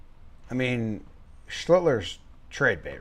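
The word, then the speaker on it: Schlittler: Schlitler. Schlitter. Schlidler. Schlidler. Trying. Trying. It's not working. He's trying people. I guess I've heard people not pronounce the first L.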